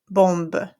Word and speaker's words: bombe: Une bombe, a bomb. Okay? Here I have OM and it's followed by a consonant sound, B, which means I have to pronounce that nasal sound, une bombe.